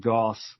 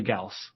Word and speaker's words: Gauss: golf rifle um but it's actually Gauss as how you would pronounce you know gaussian distribution things like that um